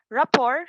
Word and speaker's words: rapport: have a rapport style rapport spelled with a t but pronounced without a t is a term commonly